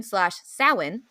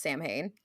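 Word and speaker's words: Samhain: and to No Surprise Halloween sawi it is not pronounced Sam Hayne is my favorite holiday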